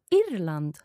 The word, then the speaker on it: Irland: Jag kommer ifrån Irland. Jag kommer ifrån Irland. Bra, Irland. Irland. Do you roll your R's quite a lot in Swedish? Unfortunately, yes.